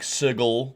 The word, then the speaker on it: sigil: sorry I know uh some people are like sigle no it's sigil it's going to be sigil for me so apologies if you're